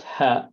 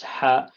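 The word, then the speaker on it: ح: is this one here, the way to pronounce it is, it should come from this area here, if you see my mouse. So what you do, you close this up a little bit, close the bottom area to the top, and you pronounce it. It's not ha, it's ha. It's like a strong ha, but it has to come like ha, ha.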